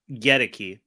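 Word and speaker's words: Goedeke: And without Luke Godecki, how do you say it? Gedeke.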